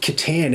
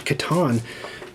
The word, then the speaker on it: Catan: That's why I say Catan and not Catan.